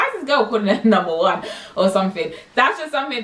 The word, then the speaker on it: Waneta: this girl calling her number one or something? That's just something people call me. It's supposed to be W-A-N, but they call me, it's pronounced the number one.